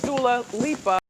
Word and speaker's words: Dua Lipa: Well, apparently her real name is Dula Lipa.